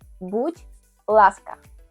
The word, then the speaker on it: будь ласка: En ucraniano decís будь ласка.